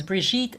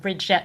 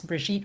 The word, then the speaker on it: Brigitte: If you're new here and you don't know me, my name is Brigitte. It rhymes with beet. So it's not Bridget rhymes with bet, it's Brigitte rhymes with beet.